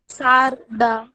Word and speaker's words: सारडा: अब ये भी देखना पड़ेगा कि सारडा है कि सारदा है, सही इसका असली मूल उच्चारण क्या है, तुमको मालूम है क्या? यस सर ने मैम। आपसे कुछ पूछा है। सर पूछ रहे हैं कि आपका ये जो उपनाम है, सरनेम है, उसका सही उच्चारण क्या है? सारडा, सारडा। सारडा, अच्छा, ठीक है।